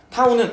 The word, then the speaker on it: 타우: 이거 타후라고 읽어. 뭐 그리스 문자인가뭐 중요하진 않아. 타우는 r 어 파레기 곱하기 f 힘.